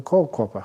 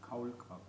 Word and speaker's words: Kaulquappe: I told it so many times that even for German-speaking Buddhists, I know the word for tadpole is a kohlkopper. I probably pronounced it terribly, but how would you pronounce it? Kaulquappe.